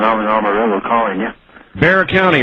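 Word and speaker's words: Bexar: Bear County, right? Yes, sir. B-E-X-A-R, but it's pronounced B-E-A-R.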